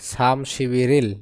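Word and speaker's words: 삼십일일: আবার তারিখ মানে ইল তাহলে উচ্চারণ কি দাঁড়ায় সাম শিবিরিল বিন স্থানে গিয়ে ব হবে গিয়ে রবে সাম শিবিরিল মানে 31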